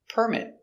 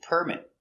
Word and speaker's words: permit: It's a noun. The stress is on the first syllable. Permit. Permit. To build, you need a building permit. Now we have a verb. Permit. The stress is on the second syllable.